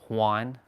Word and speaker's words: Juan: I know in I know in Spanish language the J is uh usually pronounced like an H like instead of a Jan it's it's Juan Juan.